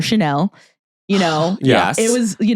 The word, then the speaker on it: Chanel: Some people would call it Channel for Chanel.